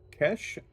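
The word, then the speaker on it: Cesh: Are we pronouncing that Kesh or Sesh? C-E-S-H. I think it's Kesh. Jibo says Kesh. Tyler says Kesh. All right, Kesh it is.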